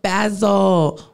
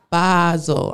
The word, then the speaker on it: Basel: also just looking to connect with Brands art basil Basel I'm sorry I can't say it wrong Art